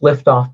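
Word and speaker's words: Lyftogt: yes it's it's pronounced liftoff but it's l y f i believe it's a dutch name but john is actually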